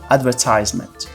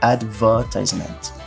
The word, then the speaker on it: advertisement: essa palavra aqui que no inglês americano é pronunciada como advertisement advertisement no inglês britânico ela é pronunciada como advertisement advertisement Ou seja a